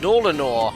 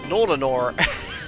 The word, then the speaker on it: Nolinor: Uh, it's pronounced Nolanor. Nolanor.